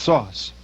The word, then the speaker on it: SOS: are using is called SOS pronounced sauce and it stands for